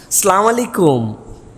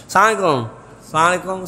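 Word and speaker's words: السلام عليكم: হাসি মুখে সবার সাথে সালাম দাও, আর সালামের বিশুদ্ধ উচ্চারণটাও শিখে নাও। আসসালামু আলাইকুম, সুন্দর না শুনতে? বিরাট বিরাট লোকজন দেখবেন এরকম করে সালাম দেয়, সালাম আলাইকুম, সালাম আলাইকুম।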